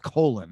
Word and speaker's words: Colin: well first of all his name is spelled colin but he insists being called colon i never understood that